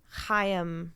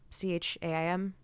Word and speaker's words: Chaim: is meant to be Chaim, I think that's how you pronounce that name, Chaim, Chaim? Yep.